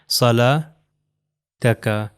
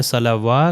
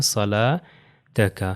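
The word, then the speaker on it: صلاتك: अगर इसको मैं सलावा करूं तो यह गलत हो जाएगा क्योंकि ये वाव जो है प्रोनाउंस नहीं होना। तो इसकी प्रोनाउंसिएशन बेसिकली किस तरह है? सला तक का।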